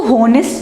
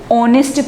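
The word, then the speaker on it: honest: ठीक है, इसमें एच क्या होता है, साइलेंट होता है। इसको होनेस्ट नहीं पढ़ेंगे, इसको क्या पढ़ेंगे, ऑनेस्ट पढ़ेंगे।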